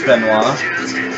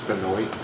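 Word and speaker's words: Benoit: all about the Chris benoa I've been watching a lot Beno videos and everything lately so it's actually Chris Benoy Chris Benoy yeah you guys have been pronouncing it I only I only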